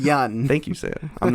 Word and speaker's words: Yeun: Yeun. It's pronounced Yeun.